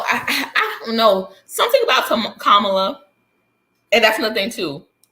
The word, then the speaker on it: Kamala: share some heat with, pronounced her name Kamala. Kamala. Most of the time it was Kamala. It was like Camille, like Kamala.